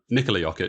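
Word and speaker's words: Jokić: Congratulations to them, but I was actively rooting for Nikola Jokic and Nikola Jokic, sorry, to give him his actual correct pronunciation of his name, and Serbia to take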